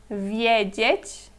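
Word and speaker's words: wiedzieć: saber videt é ver aqui talvez seja um pouquinho mais difícil de você hum reparar essa diferença na pronúncia porque em um temos vi e no outro temos vi mas na palavra fica meio que misturado né aqui temos viet vi mais aberto assim mais pro sorriso vi e o outro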